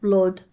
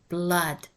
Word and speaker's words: blood: means not stressed blood it's not blood stop wanna it's blood b l double o d brother honey solution work